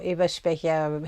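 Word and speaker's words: Eberspächer: of the robusto or Eva speaking heaters and yes I pronounced it the German he would have cost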